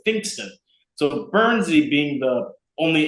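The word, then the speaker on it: Pfingsten: holiday called finston but it's spelled weird it's like p f i n g whatever German spell but you pronounce it finston so Bernzie being the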